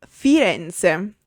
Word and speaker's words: Firenze: F for Firenze.